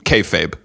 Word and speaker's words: kayfabe: I want to make sure I pronounce it right. Is it kayfabe?